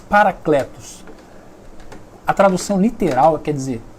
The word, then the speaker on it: parakletos: Se escreve para de parar mesmo, kletos, K-L-E-T-O-S, parakletos. A tradução literal quer dizer pessoa chamada para acompanhar. Eu vou repetir, parakletos, pessoa chamada para acompanhar.